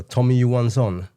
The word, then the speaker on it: Tommy Johansson: I mean, who have been following us for some time, we are big fans of Tommy Johansson or Tommy Johansson. Yep. Yes, that's the correct pronunciation.